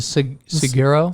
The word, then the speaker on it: saguaro: Yeah, so I guess some of those cactus, how do you pronounce them? The saguaro?